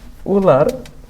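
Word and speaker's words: Wöhler: প্রায় কিছু সাল পরে ফ্রেডরিক উহলার, এটাকে অনেক সময় ভোলারও বলা হয়। হ্যাঁ, আমরা জানি আর কি উচ্চারণটা। তোমরা ওই ইউবরাজ সিংকে অনেক সময় যুবরাজ সিং বলে। ঠিক এখানে ওই কেসটাই হয় যে উহলারকে ভোলারও বলে, WOH, এটা হচ্ছে তার ইংলিশ স্পেলিং।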